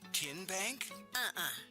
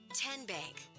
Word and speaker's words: TN Bank: How do you say the name? TN Bank? Nope. Tin Bank? So what is it? 10 Bank. 10, as in Tennessee.